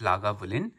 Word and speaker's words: Lagavulin: legal distillery here eight लागा वलन pronounced लागा वूलिन after the gallic लगान